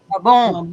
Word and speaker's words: Mabon: Ma Mabon. Ma bon. Ma. But if you put your accent on it correctly, ma bon. Mabon.